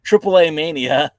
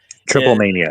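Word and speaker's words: Triplemanía: AAA Mania. Triple Mania in case you're wondering. Well, isn't it like there are AAA in there? Isn't it AAA Mania? No, it's Triple Mania.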